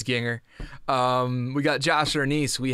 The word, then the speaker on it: Gienger: Nick, I know you told me your name rhymes with singer, so I'm pretty sure it's Ginger.